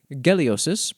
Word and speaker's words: Geliosis: Geliosis, pronounced with a hard G, god of the earth and personal judgment.